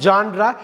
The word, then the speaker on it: genre: ஜான்ரா இப்படி படிக்க வேண்டியது GENRE, ஜான்ரா.